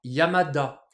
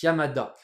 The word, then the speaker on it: Yamada: peux faire par exemple Yama plus ta Yamada et ouais la règle des accents quand on met de cand ensemble ça marche ça marche c'est toujours d'actualité donc Yamada Yamada c'est un mec qui